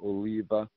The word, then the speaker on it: Oliwa: They pronounce it Oliva, and it's their word for olive.